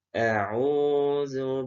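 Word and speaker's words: أعوذ: Waw sukun Anda tahu hukum bacanya apa? Disebut dengan mad tabi'i. Artinya dipanjangkan. Panjangnya berapa? 2 harokat saja.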